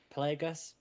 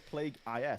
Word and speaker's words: Plagueis: It's Pla- Cadus, but I always pronounced it Darth Cadus, Cadus. yeah. And then Plagueis, it's Plagueis, but James Luceno calls him Plagueis.